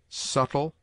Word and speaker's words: subtle: It is mute in debt, debtor, subtle, doubt, lamb, limb, dumb, thumb, climb, comb, womb.